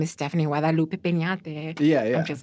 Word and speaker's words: Peñate: Stephanie, and my last name is Peñate. In case you were wondering how to pronounce that. Yes, or I have this thing where I shouldn't do this, but I like whitewash it. I'm like, Penate's fine, but like it's actually Peñate.